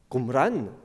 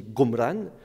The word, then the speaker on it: Qumran: Au XIXe siècle, on pense que le nom arabe Qumran, qui peut se prononcer aussi Gomran, pourrait dériver de Gomorre,